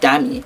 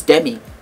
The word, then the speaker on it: Demi: Her name is not Dami. Her name is Demi.